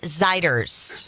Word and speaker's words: Zeiders: Warren Zeiders. Zeider. Like glider.